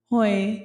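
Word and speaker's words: hoi: Hoy yung ganon ah. Mas casual ang pronunciation niya ay hoy. Parang tawag natin sa Pilipinas pero mas soft hoy ganun.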